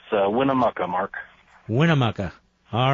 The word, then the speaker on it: Winnemucca: your town on Sirius satellite how do you pronounce that it's Winnemucca mark Winnemucca all right my friend go right